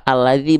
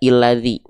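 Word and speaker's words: الذي: Nah, maka kalau tidak berharokat seperti ini kita bacanya kenapa alladzi, Bang? Kenapa nggak kita baca illadzi? Kenapa nggak kita baca ulladzi?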